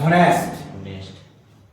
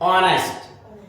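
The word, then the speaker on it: honest: इसको आप ऑनेस्ट करना। नॉट होनेस्ट ऑनेस्ट बेटा एच साइलेंट है इफ इफ यू आर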